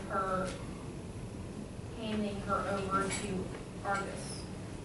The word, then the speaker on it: Argus: What was the significance of her handing her over to Argus? Right, that's how you pronounce it? Argus, the guy with 100 eyes who never sleeps.